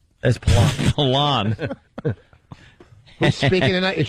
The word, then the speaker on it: Palin: know I'm still hearing it both ways there paline that's palon palon who's speaking tonight is she speaking tonight